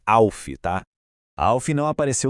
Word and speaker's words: ALF: E a pronúncia é Alfi, tá?